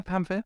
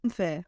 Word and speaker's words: Pamfir: And moving on now to our next review, and you're going to have to help me with the pronunciation here. So is this Pamfir? Yeah, Pamfir. Pamfir.